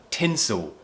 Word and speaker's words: tinsel: So, tinsel. We're finishing this word with the dark L, so we're not saying tinsel, we're not doing the L sound, and this is